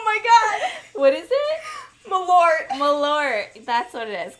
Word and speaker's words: Malort: Marlowe. Oh my god! What is it? Malort.